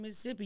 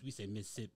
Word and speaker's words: Mississippi: A lot of people say Mississippi. I'm like, why you say it like that? We say Mississippi. Mississippi. Like, that's how it is.